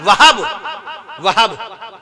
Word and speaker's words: وہب: کے نانا کا نام وہب کہیے، ماشاءاللہ تلفظ صحیح نکالا آپ نے۔ نبی کریم صلی اللہ